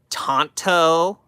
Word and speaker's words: tanto: No, they would say it's pronounced I'm sorry. Let me say it like them. Um, actually it's pronounced tonto. Guess what? I'm American. This is not a Japanese tanto. So I can say tanto.